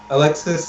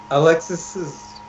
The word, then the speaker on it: Alexis: And then, but I think the most thing I noticed was that Alexis's name was like butchered to hell. His name was Alex is Pinto instead of Alexis Pinto.